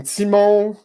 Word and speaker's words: Tymon: super fun I have an old friend I pronounce your name Simo I don't wanna that's pretty good yeah and